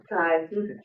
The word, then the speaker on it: Chi: Kai, there you go.